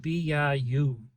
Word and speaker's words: bida: And they played this game called BIU. If you go by a Vietnamese pool room and you see the word bida, bida, bida, it's actually pronounced bi.